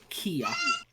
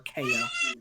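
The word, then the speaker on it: Khea: the name is um kia or kaya however you want to pronounce it k-h-e-a k-h-e-a yep um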